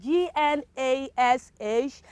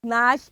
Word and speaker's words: gnash: have pronounced it what you would have pronounced this word as gnash but my dear friend it is not nash it is nash it is what it